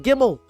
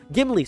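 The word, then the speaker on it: Gimli: You need the entire hat, the entire fellowship, including Legalis, including Gimmel. Gimly, sorry, Gimly, I said his name wrong.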